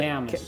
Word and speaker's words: Camas: How do you pronounce it? Camas.